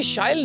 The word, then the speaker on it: Shyle: So as you just said, it rhymes with style.